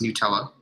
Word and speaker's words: Nutella: cups melted peanut butter Nutella and yes it's pronounced Nutella on top of it Butterfinger and also more